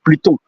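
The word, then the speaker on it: Pluton: in English, in French, the planet is Pluto. P L U T O N. So you add an N at the end.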